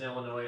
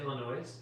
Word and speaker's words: Illinois: Someone wanted to let you know that the S in Illinois is silent. Did you say Illinois?